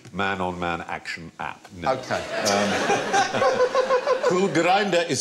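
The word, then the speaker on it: Kulgrinda: go here's a question if you follow a cool grinder where will it get you oh oh oh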